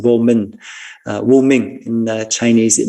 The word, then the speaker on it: vô minh: In Vietnamese, we use that same phrase, but we pronounce it vô minh.